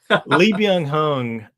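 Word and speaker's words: Lee Byung-hun: Lee Bang Hung. So for the people out there listening, they probably know Lee Yong Hung is Snake Eyes in the G.I.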